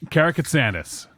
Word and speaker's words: Karakatsanis: Karakatsanis. Jesus. Karakatsanis. That's how you say it.